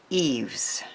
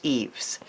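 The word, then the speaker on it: Yves: and it is called eaves it spelled Y ves and it's a really pretty floral one and my husband who knows French said it's pronounced eaves I embossed the serene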